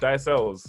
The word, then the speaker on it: Ailes: Ailes.